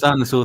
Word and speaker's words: Sun Tzu: says or whatever yeah because Sansu, that's how you pronounce it.